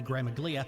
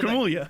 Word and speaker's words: Gramuglia: The second G is silent, though. Okay. I don't care. They answered it. Like, okay, here's the Gramuglia.